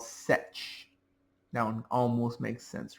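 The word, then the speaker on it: sech: to be the hyperbolic seecant function also called set. That one almost makes sense, right? Setch.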